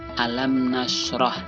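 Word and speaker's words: أَلَمْ نَشْرَحْ: sukun bertemu dengan non Bacanya adalah alamnasroh Alam Nasroh Hai membacanya pada huruf minimnya mulutnya tertutup alamnasroh itu yang pertama kita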